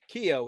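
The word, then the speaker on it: Keoghan: Uh I got his name wrong last. Kio is his last name.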